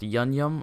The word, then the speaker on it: unum: The unum is pronounced yunyum, which I have not been pronouncing it that way all video.